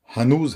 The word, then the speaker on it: ہنوز: غم دل میں سبق ہنوز، لیکن یہی کہ رفت گیا اور بود تھا۔ اس لفظ کا درست تلفظ ہنوز ہے پر زبر کے ساتھ، لیکن یہاں پر شعر